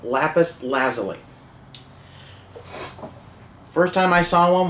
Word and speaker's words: lapis lazuli: it's funny a while back I used to pronounce some lapis lazuli which is entertaining to say but it's not the right pronunciation it's lapis lazuli first time I saw one was in Minecraft